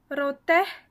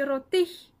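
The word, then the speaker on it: រថ: Alors, vous allez dire, normalement, on dit roti, parce que c'est une consonne en to, c'est en o. Sauf que là, c'est une exception de prononciation, pardon. Et ça se dit rote.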